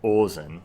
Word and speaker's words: Ozen: is a shot of ozen or ozen to pronounce it correctly from made in abyss